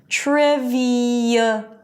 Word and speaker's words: trivial: But something in the shift between the high e and thewah creates a y sound. Okay? So listen to it. Trivial. Trivial. Testimonial. Editorial. And notice that in all of these words, the stress is on the one syllable before the suffix, right?